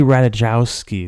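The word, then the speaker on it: Ratajkowski: Michael Sarah Iggy Azalea fetty WAP 1738 Emily ratajowski is how you say it and then Christian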